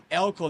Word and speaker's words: Eelco: I'm sorry when I said Eelco the first time. No problem. My mistakes. It's a very Dutch name. Okay, Yes. Mr. Eelco, thank you very much to be here in our podcast, Digaí.